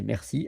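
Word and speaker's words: merci: And uh when you want to say thank you, you say mercy.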